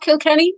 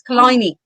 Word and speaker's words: Killiney: Can I just say it's not Kilkenny, it's Killiney. Killiney.